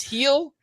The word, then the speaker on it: Gil: I miss that okay heel is G you pronounce it heel apparently okay I did see I said the name in my head Gil and so okay yeah